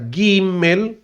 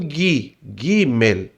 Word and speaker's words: Gimel: Essa letra Gimel, você pronuncia ela do jeito que você lê o Gimel. Então é a letra G, mas você lê como o G do gato, né? O G do gostoso.